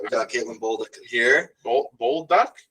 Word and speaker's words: Bolduc: we've got Caitlin here bold duck bull duck right right okay yeah all right